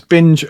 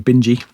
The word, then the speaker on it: Binge: Next is Nicholas Binge, I think it's Binge, possibly Bingy. Rhymes with Vingy.